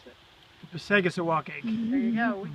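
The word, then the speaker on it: Passagassawakeag: Do you know how to pronounce it? Passagassawakeg.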